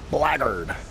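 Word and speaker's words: Blackguard: Black Guard Assassins, or as the uh the rest of the NPCs in the game call it, Blackard. That's how they pronounce it.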